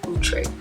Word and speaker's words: Outre: To me, the stock card puts me in the mind of Outre or Outre. I found out how to pronounce it correctly. It's Outre.